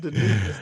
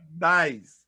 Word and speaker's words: Denise: It's not Denise. It's nice. That's how she told me to pronounce it.